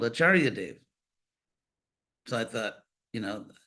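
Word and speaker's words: car: from a Sanskrit rot Char c a r pronounced like CH and uh it means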